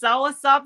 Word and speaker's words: soursop: The other one is, talk to me about that soursop. Is that how you pronounce it? Yes, soursop is amazing.